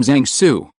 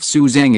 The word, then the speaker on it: Zang Su: Hi, I'm Zang Su. My surname is Zang. Zang Su introduced himself. He doesn't like others calling himself Suzang according to the western pronunciation.